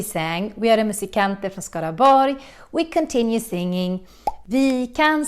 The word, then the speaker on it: Skaraborg: And when you see words like this, borg, with an RG in the end, then you need to pronounce it as a Y sound, almost like you're saying yes.